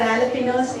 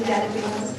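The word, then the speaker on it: jalapeños: For jalapenos, they'll be, the J is silent, they'll be calling jalapenos.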